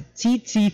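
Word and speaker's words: tsetse: the vector for African trypanosomiasis is called your CT flyer that's how you pronounce it it's a TT fly and you get the disease by the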